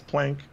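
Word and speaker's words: Planck: question both times and he says either pronunciation is fine and correct he just says plank but it's named after the physicist plunk boom goes the keyboard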